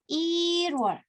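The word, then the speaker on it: 일월: Oke, angka 1 ditambah wol dibacanya irwol. Il gitu ya, angka 1, il, wol.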